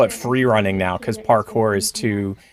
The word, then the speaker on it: parkour: And I think they all call it free running now, because parkour is it's sort of like the Xerox of the sport. And it's actually parkour.